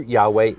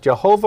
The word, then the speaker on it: Yahweh: the Jewish encyclopedia now Jehovah or Jehovah a mispronunciation of the Hebrew Yahweh the name of Elohim the pronunciation of Jehovah or yahuveh is grammatically